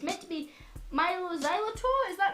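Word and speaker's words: Mylo Xyloto: I mean, it's meant, according to this, right, it's meant to be Milo Xylotto, is that right?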